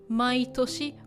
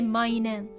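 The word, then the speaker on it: 毎年: Okay, this should be pronounced mai toshi. We don't say mainen, we say mai toshi.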